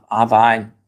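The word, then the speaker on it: Wien: Wein.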